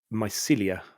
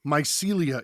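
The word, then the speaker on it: Mycelia: straight after that um I played Melia hope I've pronounced that right my Celia is correct um this game have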